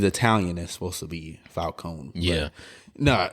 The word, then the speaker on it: Falcone: those who don't know it's supposed to be pronounced Carmine Falone I don't know where the Falcone came from but it it's because